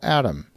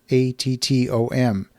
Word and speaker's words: ATTOM: There is a real estate data company called ATTOM. That's spelled like it sounds, but with two T's, ATTOM.